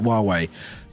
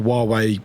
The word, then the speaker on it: Huawei: It's spelled with H, but I think it's pronounced it Huawei.